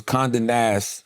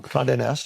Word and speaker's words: Condé Nast: And I talked about at the time, I think it was Condé Nast. I think I might be mispronouncing that wrong. Condé Nast? Condé Nast.